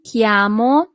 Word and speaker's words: chiamo: So in Italian that would be mi chiamo. Mi chiamo. Always remember that CH in Italian always corresponds to the sound K.